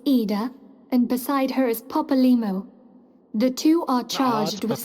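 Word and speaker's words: Papalymo: The masked woman is Ida, and beside her is Popolimo. The two are charged with Papalmo. surveying the Twelveswood. Can't lie to me. It's clearly Papalmo. The Y is silent.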